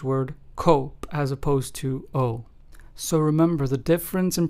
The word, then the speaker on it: oso: So therefore, the Spanish word oso, which means bear in Spanish, is pronounced as oso and not oso.